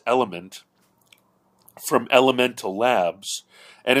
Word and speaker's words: LMNT: But to me, my cardiologist recommended a brand called LMNT, like the letters LMNT, which is pronounced element, from Elemental Labs, and it's called Recharge Electrolyte Drink Mix.